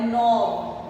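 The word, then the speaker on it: knob: अब अगला है नॉब, इसमें भी ये साइलेंट है, नॉब।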